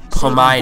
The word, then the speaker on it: Pamita: In 2007, they also sold off their Pamita chain, which I just learned I have been pronouncing it wrong. It's actually pronounced Pamita.